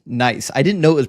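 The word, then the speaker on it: gneiss: Good to see your friend says Doug is ginise, a type of rock pronounced nice.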